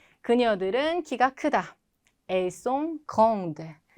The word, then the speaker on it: grandes: elles sont grandes. 역시 성까지만 소리가 나고 S는 발음이 안 된다.